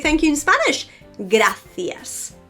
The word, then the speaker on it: gracias: thank you in Spanish gracias gracias have you noticed how I finished that with an S and I have no problem pronouncing that is not to be confused